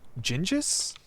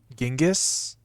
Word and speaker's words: Genghis: Gingis? I don't have a drafting room. I'll take the servants' quarters, though, for the keys. And the crate. Don't forget the crate. No, it's pronounced Genghis.